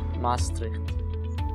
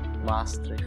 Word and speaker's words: Maastricht: In the beginning, it was really hard to pronounce Geven, Maastricht. Maastricht. Yeah, they have to put the double A, Maastricht.